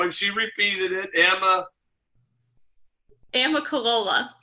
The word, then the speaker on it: Amicalola: she repeated it Emma Amicalola Amicalola it's not a nun Nicola Falls so it was